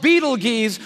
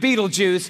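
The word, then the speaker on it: Betelgeuse: heard about this star it's called Beetle geese or Beetle Juice you can pick your pronunciation I'm obviously going with Beetle juu and beetle juu is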